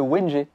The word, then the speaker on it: wengé: ça se disait le wengé. Et c'est logique. G-E, c'est pas GE, c'est Wengé, voilà.